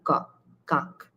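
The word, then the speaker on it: কাক: And this is coakar kak kak. It rhymes with tak.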